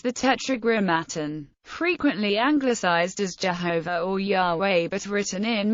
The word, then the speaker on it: Yahweh: Many magical texts in Semitic and Greek establish an early pronunciation of the divine name as both Yehovah and Yahweh.